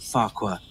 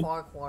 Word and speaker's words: Farquhar: Thomas stood at Farquhar, the top station of his branch line. Oh, I like Farquhar better. Either pronunciation is technically correct. Me too. Farquhar or Farquhar.